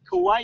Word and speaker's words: Kauai: Kauai, yes. Kauai? Yes. Kauai? Yeah, the Polynesian language, you pronounce every letter. You pronounce every vowel.